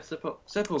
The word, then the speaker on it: sepulchre: Yeah, so you say sepulcher. Okay, I'll go with that. Okay. Wait. Google. Sepulchre. Wait a second. There's actual Google thing telling how to say it. Sepulchre. There we go. Sepulchre.